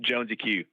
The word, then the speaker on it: JonesyQ: Jonesy Q.